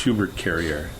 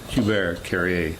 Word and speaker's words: Hubert Carrier: My actual real name was a given name from my father, and it's Hubert Carrier. Hubert Carrier. Oh, okay. That's how you kind of pronounce it in French.